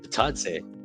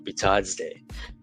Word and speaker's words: Bitadze: And then Goga Bitadze, Bitadze, I should say, sorry. I really couldn't pronounce his name right in one go. Bitadze.